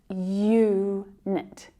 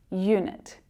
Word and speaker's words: unit: The U in unit is a consonant sound at the start. It's pronounced unit, unit, the unit.